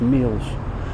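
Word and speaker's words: Meols: DW Sutton of North Mills apparently it's not pronounced Mel's it's pronounced meals who was the first founder of executed for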